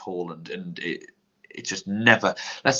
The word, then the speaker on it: Haaland: The annoying thing is, I think I've actually had, if Haaland hadn't have been Haaland, his name is supposed to be pronounced Haaland, and it just never.